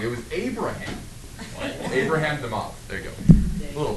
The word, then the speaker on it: de Moivre: By the way, de Moivre is how you say that.